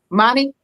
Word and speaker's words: Manny: So it's how I'm supposed to be pronouncing it. It's money. You got it right.